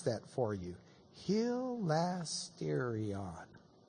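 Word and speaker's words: ἱλαστήριον: Let me pronounce that for you. Hilasterion.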